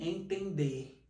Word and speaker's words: entender: dígrafo vocálico por exemplo a palavra entender você pronuncia esse é É como se tivesse um tio por isso que ele é und dígrafo vocálico você não pronuncia esse n entender portanto neste caso nós